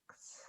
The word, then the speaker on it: Alex: Like, am I not enunciating enough? It seems to really be a problem. Alex. And then they say Alice, and I go, I guess.